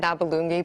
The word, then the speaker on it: Nabulungi: Did I get that Nabulungi pronunciation right? Absolutely, which is more than I can say for some of the others.